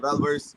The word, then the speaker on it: Valverse: Is that how you say it, Valverse? Yes.